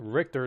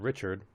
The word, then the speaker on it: Richter: final fantasy character and it's pronounced richter not richard i misspelled it on purpose it's richter and you don't haven't changed your icon on royalty 20.